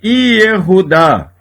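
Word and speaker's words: יהודה: Exemplo de Shevá pronunciado. A palavra Yehudá, Judá. No início da palavra, quase sempre o Shevá é pronunciado.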